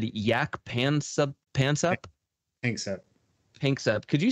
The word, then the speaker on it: Panksepp: Pansep. Could you spell that real quick?